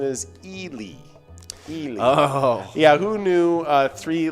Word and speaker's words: Ely: gotta go back with the classic it's definitely eli that's that's actually not not even the common mispronunciation the common mispronounce is ellie uh but the actual pronouncement is elie yeah who knew uh three letters could uh